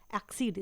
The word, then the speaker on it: exceed: चलिए अब देख लेते हैं दूसरे वर्ड को, जिसका प्रोनाउंसिएशन तो सेम है लेकिन स्पेलिंग और मीनिंग अलग है। जैसे एक्सीड, स्पेलिंग है EXCEED।